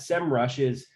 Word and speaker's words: Semrush: their data distribution functions in sem rush or semrush I'm sorry is the correct way to say it I can take a